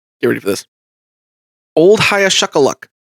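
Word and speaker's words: Hiaschuckaluck: Old Hayashakaluck. Uh, can you spell that for me really quick?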